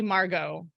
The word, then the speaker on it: Margot: My daughter's name is actually Margot, but with a T, because unlike Rodez, France, we went with the French pronunciation.